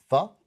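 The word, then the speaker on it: phở: By the way, it's pronounced pho?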